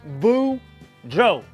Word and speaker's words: Boudreau: hey there kids it's me boudreau that's pronounced boo joe and i'm here to